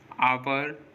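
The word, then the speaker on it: hour: जैसे ऑनर, honest, आवर, इको, इन सभी words में देखिए ओ से पहले एच आ रहा है और जब भी किसी वर्ड में ओ से पहले एच आएगा तो एच साइलेंट होगा।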